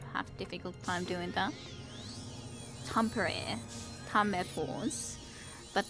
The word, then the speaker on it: Tampere: difficult time doing that Tampere combat wounds but Tom Barrett anyways is of course the correct way to say that this isn't gonna be